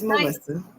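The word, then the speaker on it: Malysa: It's Melissa.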